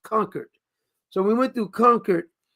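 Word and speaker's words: Concord: then we went through I was calling it Concard but it says conquered. It's not Concard. The people who's not from there called it Kard. They told us it's pronounced conquered.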